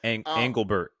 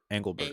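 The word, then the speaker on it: Engelbert: Oh, Angelbert. Angelbert.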